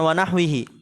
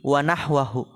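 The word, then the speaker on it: ونحوه: wahwihi dan semisalnya atau di situ bukan wahwihi wahwahu yang lebih benar fil makhraji qutnan wahwahu diganti harakatnya tadi ana salah bacanya yamnaul kharija yang mencegah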